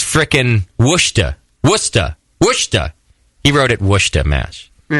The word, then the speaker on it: Worcester: Sent from my iPhone writes in, hey, Justin, it's not Worcester, Mass. It's frickin' Worcester.